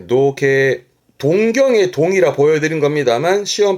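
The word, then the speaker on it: 憧憬: 발음은 노게.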